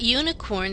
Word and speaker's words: unicorn: we say an umbrella but unicorn starts with a consonant sound y y like the beginning of yes and yellow that's a consonant Y sound y unicorn so we